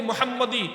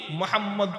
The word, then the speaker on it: মোহাম্মদ: বেশি উচ্চারিত হয় দেখ কেয়ামত পর্যন্ত প্রত্যেক উম্মতি মোহাম্মদ তার নামের শুরুতে আমি আমার নবীর নাম লিখবে